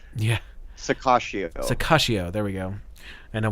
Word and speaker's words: Sirocco: second one's, the second 2 C's are soft. Yeah. Sakashio.